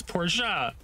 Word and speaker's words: Porsche: It's Porsche. Just say it correctly.